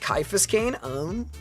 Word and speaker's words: Caiaphas Cain: Caiaphas Cain is pronounced Caiaphas Cain.